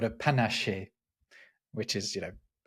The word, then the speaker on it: panaché: They do have a drink in France called a panaché, which is, panache with an E accent on the end of it.